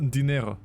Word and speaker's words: dinero: It's pronounced dinero.